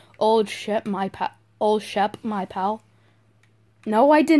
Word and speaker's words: Shep: It's weird because it's called Old Shep, but you know how sheep is spelled S-H-E-E-P? Yeah. It's spelled Old Shep is spelled S-H-E-P. So I want to say sheep, but...